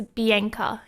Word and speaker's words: Bianca: but my name is bianca in australia we pronounce it like this i know in other countries you pronounce it differently but i have grown